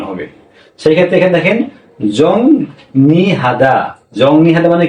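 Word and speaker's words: 정리하다: তাহলে আমাদের উচ্চারণ এখানে কি হল? জংনি হাদা হ্যা কে বলছে এই জং নি হাদা জংহাদা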